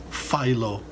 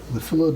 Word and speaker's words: Phyllo: Do not pronounce it Phyllo dough. Do not. It's Phyllo. Phyllo.